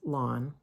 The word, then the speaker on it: Lawne: In March of 1822, John James Lawn, and that's spelled Lawne, in March of 1822,